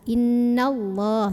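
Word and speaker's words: إِنَّ اللَّهَ: Dari nun langsung masuk ke lah. Innallah ya, innallah.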